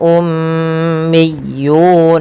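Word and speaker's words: أميون: Kemudian berlafal ummiyuna, tahan suara ya karena ia mim berharakat tasydid dan kita hukumi dengan bacaan gunnah.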